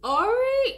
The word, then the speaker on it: awry: we would say what I used to say re oh my god that was re it wasn't it you know but it's not alright it is like the correct position just felt